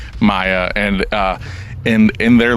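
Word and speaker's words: Maja: ] weird when it's spelled different it's m Aja a Maya and uh in in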